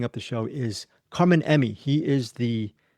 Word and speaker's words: Emmi: And then finally, wrapping up the show is Carmen Emmi. Emmy is not spelled like the award. It's spelled like E-M-M-I, Carmen Emmi.